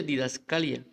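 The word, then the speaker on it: διδασκαλία: caso dice que la palabra es o se pronuncia didascalia dice que viene el 1320 eso también es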